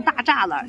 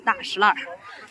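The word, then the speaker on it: 大栅栏: 很多人读这个大石烂呢，读成大栅栏，其实北京人是读大石烂。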